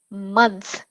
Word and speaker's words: months: we actually pronounce it with a short u sound ah so think about the word uh oh it's the same sound so and then we